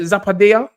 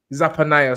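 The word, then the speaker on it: Zephaniah: I think how you say it, Zappadea? Zafanaya. Zapanaya, sorry.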